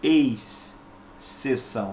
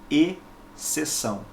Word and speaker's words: exceção: e se são tá você não pronuncia ex ceção não é assim é e sessão bom bem sessão com